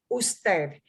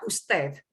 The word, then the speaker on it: usted: one you and it's friendly formal is us usted and sometimes that is abbreviated yeah usted usted on you'll hear that t.h who said